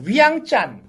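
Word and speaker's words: ວຽງຈັນ: 라오스의 수도이면서 또 최대 도시인데 현지 사람들은 이것을 비엔티엔이라고 발음을 하지 않고 위앙짠. 약간 중국 느낌인데요? 네, 그렇게 좀 얄밉습니다. 약간 얄미워요? 불어하고 라오스어가 섞여서 이런 발음이 나온 건데, 네.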